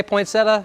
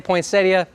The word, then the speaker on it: poinsettia: Some people say poinsettia, some people say poinsettia. Both are acceptable.